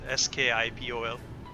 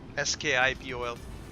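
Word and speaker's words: Schiphol: Schipol, as far as I know, is Skipol, I think. The pronunciation Skipol is how I say it.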